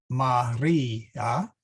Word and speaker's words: Maria: So Ave, Ave, Maria. There, this emphasis here is on the I.